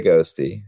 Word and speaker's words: Ghostty: so much but nowadays ghosties that how you say it ghosty or is it ghost TTY no I say ghosty I say ghosty that's